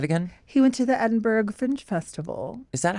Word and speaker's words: Edinburgh: He went to the Edinburgh Fringe Festival. Is that how you say it? You don't say Berg. Edinburgh.